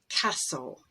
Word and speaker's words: castle: And at the end of a word, if you have S-T-L-E, T is always dropped. Castle, whistle, wrestle, hustle.